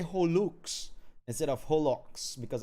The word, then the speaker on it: holoX: Holo-X is pronounced as Holux, similar to Horus, not Holo and X.